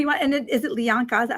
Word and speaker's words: Lianka: And is it Lianka? Is that how you pronounce it? So I know. Yes. Lianka.